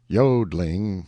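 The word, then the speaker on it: jodling: warbling the yodling pronounced yodling emphasis on the o continued and was very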